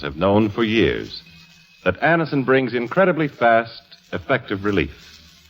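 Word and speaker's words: Anacin: Thousands of people have been introduced to Anison this way.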